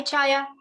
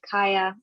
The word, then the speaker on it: Chaya: taiya hi hi hi chaya oh hi i'm i'm sorry i didn't i didn't recognize my name because i pronounced it kaya sorry it's okay it's